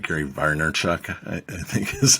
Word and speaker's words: Vaynerchuk: Gary Vaynerchuk, I think is how you say his last name. Vaynerchuk.